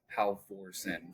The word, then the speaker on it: Halvorsen: Speaking on the mispronunciation of last names, my last name's Halvorsen, so it's a Orsen situation. But every single time I say it to somebody, they're like Orsen. You mean?